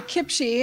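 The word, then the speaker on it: CPCHE: for children's health and or kimchi as our acronym it's pronounced we are a collaboration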